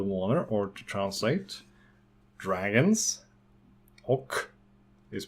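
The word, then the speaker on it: och: the rock character water or to translate dragons oak is pronounced oak many people think is oh but it's oak Oak the mourner demons dragons and demons and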